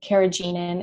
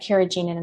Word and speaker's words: carrageenan: And then, anything, and, as far as like the thickeners go, carrageenan, it's an easy one to avoid.